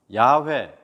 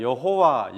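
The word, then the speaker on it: 야훼: 강조 하시고 또 그렇게 게시 하시겠다 말씀을 하실까요 야외 우리가 여호와 영어로는 여 호 와 발음이 지거든요 와 그런데 10월에 원으로 는 야외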